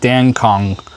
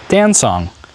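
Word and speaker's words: Dancong: oong T it's a it sounds like dance song but it's it's spelled in pinion d n c o n g so it looks like Dan Kong but it's danong and these are from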